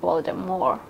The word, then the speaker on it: Voldemort: And recently, J.K. Rowling said that Voldemort was pronounced Voldemort.